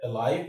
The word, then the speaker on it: alive: But in the case of alive, we have an exception. The transcription of that word is alive. Alive. The stress is on the second syllable. So, it's like this. Uh live. Why is this not the case? Why is this an exception? The reason is the sound here is the schwa sound.